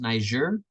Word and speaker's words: Niger: The country is pronounced Niger, not the other term.